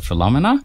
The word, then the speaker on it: Philomena: So I personally pronounce it Philomena. So I'm going to pronounce it Philomena from now on. That's fine. But it's one of those potato-potato situations, like Philomena, Philomena. It's a Francophone, Anglophone thing. So like both pronunciations are perfectly correct.